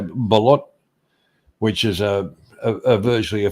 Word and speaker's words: balut: But like I say, balut, which is a virtually a fertile chicken egg, gets to 25 days. 25 days, and then they steam. How do you spell that? Balut.